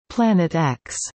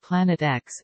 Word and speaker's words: Planet X: The X in the name represents an unknown and is pronounced as the letter, as opposed to the Roman numeral for 10. At the time, Planet X would have been the ninth planet.